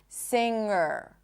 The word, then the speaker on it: singer: So the root of the word has an NG phoneme in it, sound, and that sound is always It doesn't have a G sound in it. Singer.